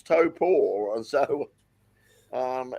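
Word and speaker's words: Taupo: tour it's sort of it's sort of pronounced in the opposite to how it's spelled you look at it and you say oh it's just it's torow and it's like no it's top poor and so um it's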